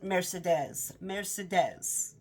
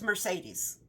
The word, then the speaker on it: Mercedes: And the woman that he's in love with, he kept saying her name was Mercedes. Well, it's Mercedes. So, and every time he'd say her name, I'm like, oh, that's a pretty name, Mercedes. It's Mercedes, if you were to read the name.